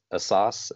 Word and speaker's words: Asas: And I'm very honored and happy to introduce our guest today, which is Asas. Am I pronouncing that last name Yes, correctly?